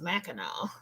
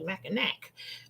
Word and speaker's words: Mackinac: But it is pronounced Mackinac. But I think depending on where you are, some people do say Mackinac.